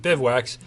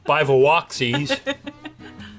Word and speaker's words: bivouacs: Of course, Andrea has trouble pronouncing bivouacs, so most people know the channel is Bikes, Boats, and Bivouacs. Andrea knows the channel is Bikes, Boats, and Bivouacsies.